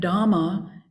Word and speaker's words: Dhamma: to Hindu teachings, and Dhamma is the equally ancient Pali language often related to Buddhist teachings.